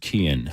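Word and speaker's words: Cian: what they picked and Kian uh c-i-a-n pronounced Kian Kian Summit yep and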